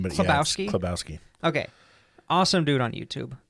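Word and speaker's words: Chlebowski: how do you say it's it's kabowski kabowski did you know that no never says his name no it's okay I thought it was chabowski for the longest time and I was like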